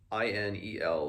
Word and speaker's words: Ineluki: reason and reward, and Ineliki, I'm going to have so much trouble pronouncing, it's Ineluki, Ineliki. I'll just say Ineliki.